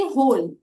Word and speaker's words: whole: वैसे ही होल, WHOLE, इसमें भी डब्ल्यू और एच साथ में आ रहे हैं पर हम बोल रहे हैं होल, ह।